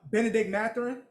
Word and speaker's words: Benedict Mathurin: Benedict Mathurin.